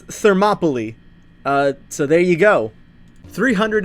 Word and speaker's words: Thermopylae: How to pronounce Thermopylae. What the fuck? Thermopylae. Okay, apparently it's Thermopylae.